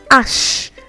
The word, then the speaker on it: H: Then H is pronounced ash. Ash. Just imagine you're talking about the ash color, for example.